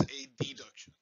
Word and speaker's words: adduction: abduction and adduction, and my southernese kind of gets in the way, so I mispronounce it. Abduction versus adduction.